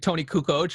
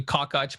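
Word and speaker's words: Kukoč: Speaking of another guy that Jordan took out during his tyranny is Tony Kukoc, or what people like to say Tony Kokoc back then, I guess.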